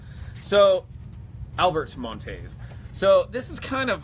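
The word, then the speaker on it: Monteys: How do you say his name? Montes? Yeah. So, Albert Montes.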